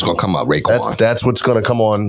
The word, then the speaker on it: Raekwon: Raekwon. That's what's gonna come on when I go in the car. And it's spelled RAE. Just in case you're looking for RAY. Raekwon.